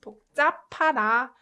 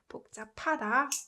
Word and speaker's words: 복잡하다: When it's combined with 히읗 consonant, it produces p sound. Before we do the actual word, let's try pronouncing up with h. Up. Inevitably, p sound gets produced, right? P. So these two produces p sound. That's how this word is pronounced.